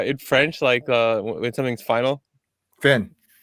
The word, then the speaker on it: fin: Finn. Yeah, it's just Finn. Okay. I thought it was like Finet or something like that.